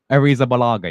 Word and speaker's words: Arrizabalaga: All right, Kepa Arrizabalaga.